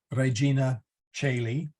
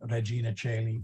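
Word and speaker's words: Regina caeli: you may have seen Regina chaylee with an OE uh the parish I believe spells it with an OE and you may have seen Regina Chaley with an AE they are pronounced the same it's much the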